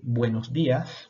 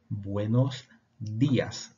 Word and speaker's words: buenos días: no tenemos algunas formas además de estas tenemos buenos días o buen día dos formas para lo mismo repiten conmigo buenos días mira que el la de antes de jeep